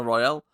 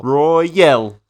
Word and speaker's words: Royale: Casino Royale.